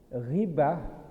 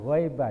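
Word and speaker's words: غيبة: pahala menghapus amal saleh gibah bukan ghaibah ya giibba Ada Ustaz yang membaca ghaibah itu alam gaib berarti kadang-kadang berani kah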